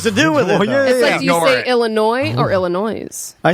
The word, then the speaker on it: Illinois: do with it yeah illinois or illinois i say illinois yeah so you drop the s but both toronto and